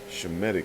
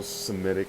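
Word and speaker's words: Shemitic: the Shem medic race okay shemetic not not all Semitic and all the stuff that you're saying no okay that's that's not even how it's pronounced okay so you guys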